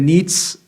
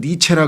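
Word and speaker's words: Nietzsche: 그 유명한 여러분 독일의 니츠, 옛날에 우리 학교 시절에는 니체라 그랬는데 어떻게 발음이 좀 시골 틱해서 그런지 요즘엔 니츠라 그러더라고.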